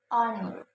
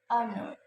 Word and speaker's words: honor: help and history history the second is some H is silent like our our honor honor and honest honest letters